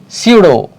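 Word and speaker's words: pseudo: सीडो P silent है.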